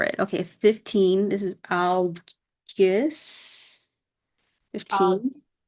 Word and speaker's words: Algiz: This is Algiz. Yes. 15. If Do you want me to correct you or no? Algiz. Oh, yeah. Algiz, okay.